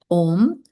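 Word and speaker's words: ॐ: So this is how we can pronounce om. We don't have to actually pronounce the ah separate because the sound om on its own includes the ah and the u.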